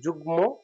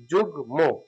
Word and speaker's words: যুগ্ম: এবার আছে গয়ের সাথে ম আছে, গয়ের সাথে ম, এখানে ময়ের উচ্চারণ হবে, নয়ের সাথে, লয়ের সাথে, গয়ের সাথে যদি ম যুক্ত থাকে সেক্ষেত্রে মটা উচ্চারিত হয়।